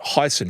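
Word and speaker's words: Heysen: I believe they pronounce that Heisen Trail here that goes through Deep Creek National Park.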